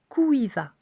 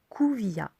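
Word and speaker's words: Kûiva: Il se dit Kuiva. Ok. Alors il s'écrit K, U accent circonflexe, qui se dit OU, IVA. Donc K, U accent circonflexe, IVA, et qui il se dit Kuvia.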